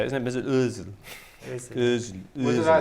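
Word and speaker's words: Özil: I know he's capable of being rubbish, but I wasn't going to say Mesut Ozil, because otherwise people say we would have.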